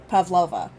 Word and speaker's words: Pavlova: Did Pavlov follow us from fucking the ship? Pavlova. Nina? I know who you're talking about, but Pavlov. I said it wrong, okay?